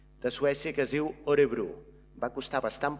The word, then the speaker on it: Örebro: Terrassa està agermanada amb un municipi de Suècia que es diu Örebro. Va costar bastant pronunciar Örebro d'aquesta manera, Örebro.